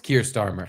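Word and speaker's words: Keir Starmer: which is the problem uh how do he pronounce his stupid name though Kier starmer it is Kier starmer Kier starmer Kier Styer Bill Clinton yeah yeah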